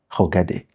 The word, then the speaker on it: regardé: And then you know when this accent is on E, it's pronounced E. That's why I will say j'ai regardé.